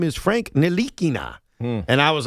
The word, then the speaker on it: Ntilikina: And I did this once, even though it backfired, with Frank Ntilikina.